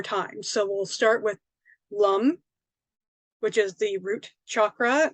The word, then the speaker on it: lam: Okay, and so even though they look like lamb, vam, ram, yam, ham, and om, it's pronounced like om. Okay, so lum, vom, ram, right, like that.